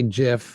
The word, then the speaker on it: GIF: appreciate that very kind soft g as in gif i say gif some people say jiff um i do a